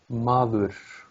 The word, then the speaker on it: maður: There's a tiny hint of an S sound in your R's. Okay. Something like that. Like you say madurs. Rus, rus. Madurs. Like, Maður. see? There's a sh at the end. Madurs. Maður. Madurs. It's something with a little air that comes out at the end of the R. Madurs. Like a whisper. It's something like that. It's very subtle, but it is there.